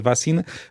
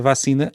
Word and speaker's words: vacina: que muitas pessoas dizem, não estão a alterar a sílaba tónica da palavra, é sempre si, o si é que é a sílaba tónica. A questão é como é que nós pronunciamos a vogal anterior.